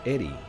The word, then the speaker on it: Erie: Erie is pronounced Eddie.